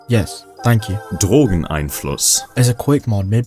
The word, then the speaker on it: Drogeneinfluss: It's pronounced like Drogonos. Yes, thank you. Drogon Einos is a Quake mod made by Jane, known for her critically acclaimed HalfLife mod, New Year's 2004.